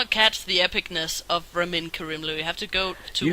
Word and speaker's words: Ramin Karimloo: I just pronounce it the way he himself pronounces it. No, you don't. Yes, I do. But that's because he pronounces it in a like... I guess he pronounces it in the proper Iranian way, but whatever.